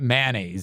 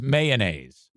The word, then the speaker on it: mayonnaise: It's not mayonnaise. It doesn't rhyme with man glaze. It's mayonnaise.